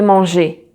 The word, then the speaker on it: mangé: So when you have an accent on the E, so just like this, so we say un E accent aigu. And this one is pronounced. And the sound you have to make is E.